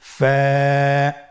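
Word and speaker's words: ف: ফা হরফটি আপনারা স্ক্রিনে দেখতে পাচ্ছেন। ফা হরফটি উচ্চারণের ক্ষেত্রে বারিক হবে এবং এক আলিফ টেনে পড়তে হবে।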